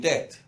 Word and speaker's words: debt: world are now in debt, in lots of debt. Is there a silent letter? There's a B, yeah. Nobody says it, but there is a B. Debt.